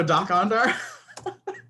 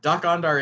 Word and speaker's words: Dok-Ondar: How do you spell that? You guys don't know Doc Ondar? Nope. It's DOK-ONDAR. Doc Ondar is the name of the Ithorian in Star Wars Galaxy's Edge, the amusement park.